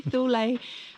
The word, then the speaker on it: Thule: do you say it fuel soul oh okay thule um covers like this the brilliance is that